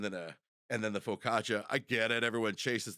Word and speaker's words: focaccia: we're all different so is that how that's pronounced Focaccia Focaccia yeah I've been saying facisha for my entire life unless I'm wrong I'm